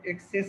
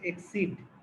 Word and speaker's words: exceed: Your CV should not এক্সেস, না এটা হচ্ছে এক্সিড।